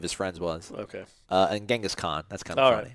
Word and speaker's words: Genghis Khan: And Genghis Khan. That's kind of all funny. Right. Okay. Yeah, in the Persian nomenclature, we actually pronounce it Chengiz. Chengiz Khan.